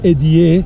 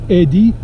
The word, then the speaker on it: Eddie: y not i e but why because people mispronounce it if I use the IE they would say Edie naredi so it's Eddie and then a space via hero means traveler